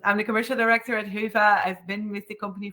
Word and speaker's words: Hyvä: pronunciations that I uh here um it's actually pronounced as Hua uh which is a Finnish word and it